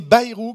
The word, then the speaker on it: Bayrou: qu'après on s'arrête mais que vous disiez bayrou quand vous prononcer mon nom ici voilà parce que nous